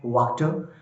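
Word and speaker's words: Wachter: तो ये कह रहा है कि जो वहां पर एक साथ में एक ब्लैक स्मिथ, उसका नाम वॉक्टर था, फ्रेंच में उसकी प्रोनाउंसिएशन है वॉक्टर।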